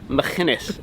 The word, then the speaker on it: Machynys: If you follow that, you'll get all the way to Llanelli and you end up at Machynys, is how you say it.